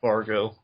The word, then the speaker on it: Bargo: Originally, Bargo, that's Mati for those of you unfamiliar, and yeah, that's how you pronounce the name. It's like Bahargan or something, but it's just pronounce it Bargo.